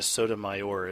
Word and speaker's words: Sotomayor: appointed by Obama during his first term sonia Sotomayor is how you say her name but she